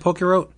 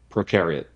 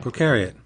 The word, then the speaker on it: prokaryote: Is that how you say it? It's not Pokerote? Prokaryote. Yeah. Prokaryote.